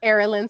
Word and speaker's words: Arilan: have you here rotted welcome so this is in skincare correct yes I pronounced it properly say it again Errol in skincare is awesome so tell me about yourself